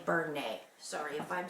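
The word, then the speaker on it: Bernat: I say Bernay. B-E-R-N-A-T. I say Bernay.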